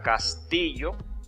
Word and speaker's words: castillo: Y en la palabra castillo, la sílaba tónica es ti. Tampoco se marca la tilde.